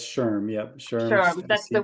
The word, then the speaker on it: SHRM: it wrong um SHRM how do I pronounce that shrimp that's that's Sherm yeah sure sure that's